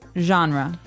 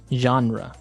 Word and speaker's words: genre: We say genre. Genre word genre. This kind of sounds French.